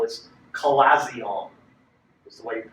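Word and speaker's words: chalazion: way it's the pronunciation of how the second syllable is collazion is the way you pronounce it you may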